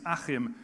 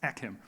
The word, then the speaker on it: Achim: it is not so it is a pleasure to finally hear my name as it's meant to be pronounced and not put and chopped into pieces like in the uk in other places akim um but now moving